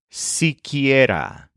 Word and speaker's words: siquiera: It's siquiera. It's spelled as if you put the conjunction si next to the subjunctive word quiera.